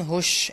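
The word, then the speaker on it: hush: अच्छा, एक इसकी स्टैंडर्ड प्रोनाउंसिएशन हश भी है, हश भी इसको बोलते हैं। हुश जो है वो भी इस्तेमाल होता है, लेकिन ज़्यादातर इसको फ्रिक्वेंटली जो सुना गया है वो हश है बेसिकली।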